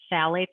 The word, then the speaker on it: phthalates: And that one is spelled, I'm saying phthalates, but it's spelled PHTH. ALATES. So phthalates, it's like the PH is silent.